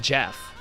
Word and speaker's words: Geoff: I wanted to go into the Jeff Twitter because I think Jeff, by the way, his name is written Joff, but it's called Jeff.